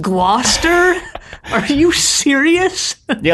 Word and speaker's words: Gloucester: that water source grouse Esther Shire and it's pronounced Gloucester are you serious they like werster's Oh